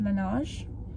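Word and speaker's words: Laneige: just called cassidy and you basically pronounced it lanage that's what she said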